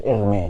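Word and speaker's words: Hermès: Bukan Hermes merek tas, itu Prancis, Hermes cara bacanya.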